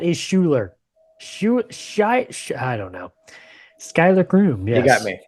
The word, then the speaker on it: Schuyler: say his name, but I think it's Skylar Krumer. Yeah, I still don't. How do you get that from that spelling though, man? Not quite Schuler. Schuyler.